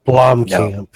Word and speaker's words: Blomkamp: Blomkamp.